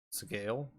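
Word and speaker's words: Sgaeyl: is pronounced oh s sale seale sale I don't know how it's how it's actually I looked up a couple different pronunciations and it's really similar to how you would say scale but with a little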